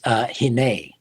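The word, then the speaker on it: הִנֵּה: And it's pronounced hine.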